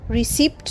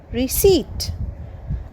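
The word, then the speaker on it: receipt: আরই সিই আই পিটি রিসিট এখানেও কিন্তু পি সাইলেন্ট সো রিসিপট নয় রিসিট I loss রিসিট অফ my purchase আমি কেনাকাটার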